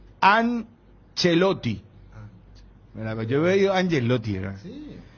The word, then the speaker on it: Ancelotti: Bueno, modo radio, cuando es modo televisión, sí se tiene que respetar a rajatabla el tema de la pronunciación italiana. Porque es Ancelotti.